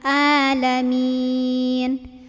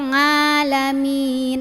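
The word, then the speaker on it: العالمين: jangan mantul rabbil kemudian kesalahan yang berikutnya adalah di Ain biasanya tertukar sama Hamzah sama a rabbil alamin alamin harusnya Aa masuk tenggorokan tengah ya alamin jangan juga ngalamin apalagi salah gitu ya Oke kita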